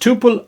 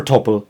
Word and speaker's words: tuple: next we have tupes which are pronounced Tuple or Tuple depending on who you ask topples are essentially lists